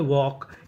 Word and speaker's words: walk: डा, जैसे WALK इसे पढ़ते हैं वॉक, यहाँ पे L हमारा साइलेंट रहता है, L का उच्चारण नहीं करते, और आखिरी में ED, तो मीनिंग बनी वॉक्ड, वॉक्ड, वॉक्ड का मतलब टहला।